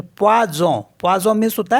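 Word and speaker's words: poison: और पी ओ आई को पढ़ेंगे प्वा तो पवाज पवाज मीस होता है पॉइजन अब देख लेते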